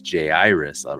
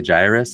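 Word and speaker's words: Jairus: Iris arrived and it's J Iris because we know somebody who that's his name and that's how he says to pronounce it right Jay Dunston J Iris some people say Gyrus and every time I hear that I'm like you are wrong dummy so um J Iris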